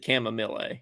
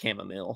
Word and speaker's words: chamomile: they're talking about well Matt Matt mispronounced chamomile he said Kam or something like that or shamama um Cham yeah chamama or something like that but it is in fact kamill so we can have